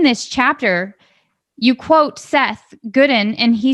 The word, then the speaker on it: Godin: I'll pronounce his last name Godin. Thank you. But I don't think it's a right or wrong, right?